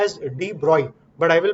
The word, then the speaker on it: de Broglie: इसको प्रोनाउंस करते हैं एज डी ब्रॉय।